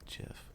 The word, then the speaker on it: GIF: would never correct somebody on it on their pronunciation on their definition i wouldn't just just for clarification the creator said it's called jiff no the creator said it's called gif said